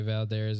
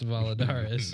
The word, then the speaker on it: Valadares: I don't ever fucking say it right. I always just like to say Valderes. It rolls off my mouthpiece or easier, but I'm pretty sure it's Valadares.